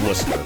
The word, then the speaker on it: Worcester: Okay, so it is Worcester. Okay. I love how words that have like 10 plus letters in them only have like 2 syllables.